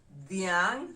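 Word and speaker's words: dhiang': to cow in the luo how do we spell it d-h-i-a d-h-i-a-n-g with an apostrophe d-h-i-a-n-g with an apostrophe the yang diang refers to a cow number 13 hyena hyena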